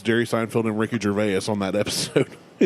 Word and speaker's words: Gervais: It's Jerry Seinfeld and Ricky Gervais on that episode. Is it Gervais or Gervais? Gervais. Don't care. Is it Jarvis? Ricky Jarvis. Gervais.